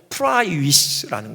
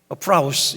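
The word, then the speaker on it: πραΰς: 마태복음 5장 5절에 온유한 자 할 때 그 원유 그 히라버가요 프라이위스라는 거예요. 프라우스 이렇게 발음하기도 하는데요.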